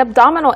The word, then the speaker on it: abdominal: Abdomen. Abdominal. 강세가 옮겨지게 되죠.